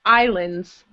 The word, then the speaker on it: islands: And the next one, this S is silent. Okay, keep that in mind. The first S, we don't hear it. I hear Iceland. Good, but it's a silent S, so it's pronounced islands.